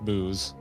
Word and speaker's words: buuz: There are two pronunciation. One's literally butts and one is booze.